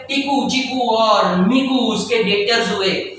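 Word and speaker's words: debtor: चिकू और मिकू उसके डेटर्स हुए ये डेबिटर नहीं बोलगा बी साइलेंट है बी साइलेंट है डेबिटर नहीं बोलगा स्पेलिंग देख डी बी टी आर एस डेटर बोलने का डेटर ये तीन उसके डेटर्स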